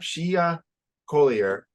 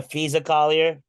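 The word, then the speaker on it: Napheesa Collier: but Brianna Stewart and not she not Shia Collier are founding a United States off-season women's basketball league you mean the fisa Collier thank you I knew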